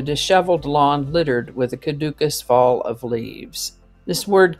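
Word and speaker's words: caducous: the end of the year today's word is cadukus it can also be pronounced kadukus not to be confused with caduceus cadukus is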